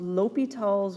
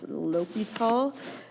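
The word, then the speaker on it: L'Hôpital: be using what's called l'hopital's rule please don't pronounce that s in here by the way uh you're you'll also see this written as lopital with a little little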